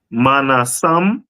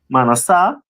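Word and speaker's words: מנשה: next one is the tribe of Manasseh, which is pronounced in Hebrew Manasseh, Manasseh.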